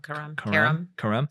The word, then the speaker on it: Karam: How do you pronounce that? You know? No, Karam.